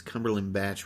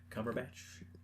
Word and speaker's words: Cumberbatch: thing that i find weird about it is cumberland batch with an american accent i say his name right benedict benedict benedict cumberbatch yeah benedict cumberbatch yeah whatever his name is